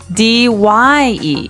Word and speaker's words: dye: So it's pronounced exactly the same way as, to die, to not live anymore. Die. But it's spelled differently. D-Y-E.